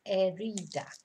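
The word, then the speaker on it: herida: a an injury una erida remember we don't pronounce the h so it's ereda and that's it so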